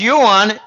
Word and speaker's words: yuan: because when you say Yuan you can I mispronounce it it's Yuan I've got Chinese clients who say Jim it's